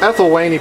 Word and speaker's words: Ethylwynnae: are ethany peacocks um I believe the correct pronunciation would actually be eth wiene but uh again the very first time I ever saw him I was it was said to me ethany so that's kind of